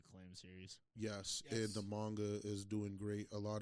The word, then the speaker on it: manga: Yes, and the manga is doing great. A lot of stuff is going to come out for that. It's manga, not manga. Manga. No, it's manga.